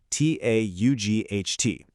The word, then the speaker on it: taught: Look at the past tense of teach. It's spelled T-A-U-G-H-T. I mean, that looks like a complete jumble of random letters, but when you actually speak it, it's a breeze. It literally just sounds like taught.